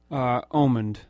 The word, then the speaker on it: Omand: Omand. Omand, okay. I'm never sure if people say Omand, right. and I don't correct them because it's do people. I get Ormond a lot, so that's wrong.